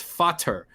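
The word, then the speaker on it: Vater: a fader yeah father it's spelled v-a-t-e-r in german because these are pronounced with f's so it's fatter vader is is just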